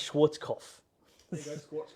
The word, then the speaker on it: Schwarzkopf: I can't pronounce it. Schwarzkopf. There you go, Schwarzkopf.